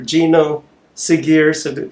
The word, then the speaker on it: Geno Segers: a very very very special guest Hollywood actor Gino sigar am I pronouncing it right yes yes is is it